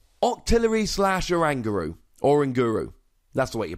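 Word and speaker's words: Oranguru: first of all octillery slash or anger ooh or in guru that's the way you pronounce it and I'm putting my flag squarely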